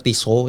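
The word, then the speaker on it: Tissot: Nah, LCKle ini dulu kalau kalian tahu sampai sekarang tuh TSOT tuh brand TSOT atau orang kalau pronouncnya kalian mau benar Tiso ya.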